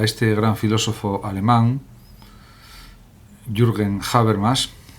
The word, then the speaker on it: Habermas: En este vídeo pretendo ofrecer un sencillo homenaje a este gran filósofo alemán, Jürgen Habermas, o también se puede pronunciar Habermas en español, que podemos considerar que